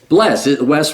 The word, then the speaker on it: Wes: Wes rhymes with bless.